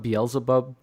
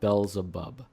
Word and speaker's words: Belzebub: It's not Beelzebub. For some reason, it's called Belzebub, and it's spelt that way too.